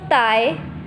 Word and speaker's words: dai: Has a pronunciation of Thai, Thai.